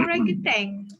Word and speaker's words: orangutan: orang hutan tu bukan disebut orangutan. Orang utan. Orang utan. Kan? Orang hutan kan disebut Orang macam utan. orangutan. Because that is the pronunciation in English.